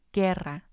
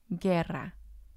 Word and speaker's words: guerra: have the g-u-e combination as in guerra guerra or the g-u-i combination as in aguila aguila when you have these combinations the u doesn't make a sound other than these exceptions